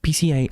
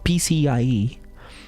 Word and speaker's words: PCIe: We say it PC Express, some people say it. CIE. PCI, I've never said that